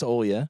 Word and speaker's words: Olya: Anyway, so Olya or Olga, but it's Olya.